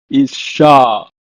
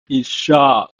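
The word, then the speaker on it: יצחק: is a name called Isaac is pronouncing in Hebrew as is shock is shock the next word is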